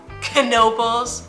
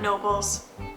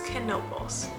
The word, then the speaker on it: Knoebels: that's how it's pronounced it looks like it might be a silent k but it's not k n o l canobals not nobles or kneebles it's ken nobles you're going to um